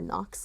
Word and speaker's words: Nyx: Um, Nyx is technically the correct pronunciation, but we call her Nox because she responds to it better.